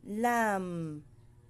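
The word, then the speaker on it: ل: sa lalamunan kaf CF next lam lam ang poson ng dila nas sa taas ng front teeth sa gums l m lam next mim mim ito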